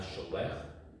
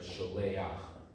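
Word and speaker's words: שולח: You add another ah in front of it, not sholech, but sholeach. That's the only difference, because it ends on a head.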